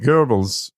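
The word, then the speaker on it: Goebbels: but and and see I'm pronouncing it Gobles because there's no R in there this is uh spelling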